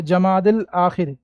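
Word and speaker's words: جمادی الآخر: कौन सा है तो जमादिल आखिर क्या लिखेंगे जी जमाद या लगा दो या यहां पर साइलेंट रहता पढ़ेंगे नहीं या को सिर्फ लिखेंगे पढ़ेंगे नहीं जमादिल आखिर जमादिल आखिर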